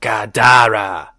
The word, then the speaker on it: Gadara: a three-syllable word that sounded like gaddara with the second syllable emphasize so gadara right oh and that